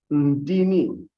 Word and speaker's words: Ndini: And there is something we say in a language, Ndini. And then he taught the audience how to pronounce the word by spelling it first.